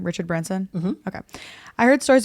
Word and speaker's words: Richard Branson: Richard Branson?